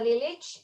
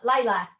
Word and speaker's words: Lilić: As Žika said, my name is Lilić. However, locally it is pronounced Lilac.